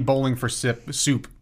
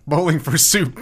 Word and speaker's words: Bowling for Soup: Yeah, this is the bowling for sip soup. Love bowling it. For sip. Bowling for soup. Pick here. Love it. Need to pronounce it properly.